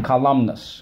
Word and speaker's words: column: We say it comes from columnus, all right? No, not Columbus, columnus. So there's an N in there again, column. Column. Okay, it's a little strange to say it, column.